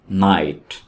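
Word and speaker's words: knight: नाइट में के को नहीं पढ़ेंगे। के यहां पे साइलेंट है। तो ये वर्ड है नाइट।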